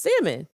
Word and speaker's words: salmon: So I said, So I said, "Oh, like you don't pronounce the L. It's just salmon."